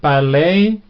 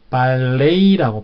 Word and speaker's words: ballet: 그러면은 ballet, 우리는 또 발레라고 하지만 영어식 발음은 ballet라고 표현합니다. ballet.